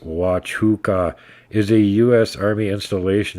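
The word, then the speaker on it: Huachuca: actively look for and photograph these things Fort huaca uh US Army base Sierra Vista Arizona Fort pronounced watch hookah is a U.S Army Installation in Cochise County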